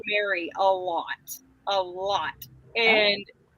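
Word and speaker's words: Mari: But I did have a boss who she How did she say my name? She said it so weird. She called me. Yeah. Because she was like, "Well, you spell it like that." So it's like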